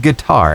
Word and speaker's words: guitar: Miss Alicia, which vowel is silent in the word guitar? Is it I, T, or U? U.